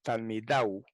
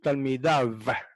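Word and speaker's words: תלמידיו: Se puede decir Talmidau y se puede decir Talmidav, como con V de victoria.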